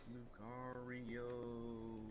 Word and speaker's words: Lucario: i believe what i have to do it's pronounced lucario oh it's lucario also the lucario project of